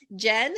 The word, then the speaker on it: Gen: so I want to welcome our guest today Jen is that correct did I pronounce it yeah okay I should have asked